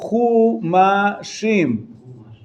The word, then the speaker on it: Chumash: So they're called Chumashim. Chumash. Im is the plural. Chumash, from the word Chamesh.